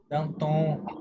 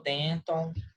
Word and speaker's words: Danton: Atenção, eles são franceses, tá? É Robespierre, bom? Danton. Roberto Spierre. Aí tem muita gente que falou Denton, Robespierre, tá?